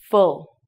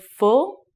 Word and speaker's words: Full: Full. Again, a very short word. Full.